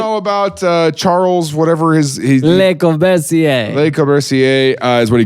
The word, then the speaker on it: Le Corbusier: No, it's Le Corbusier.